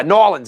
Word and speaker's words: New Orleans: Well, yeah, Nolans is how they say it down there, Nolans. But do most people say New Orleans?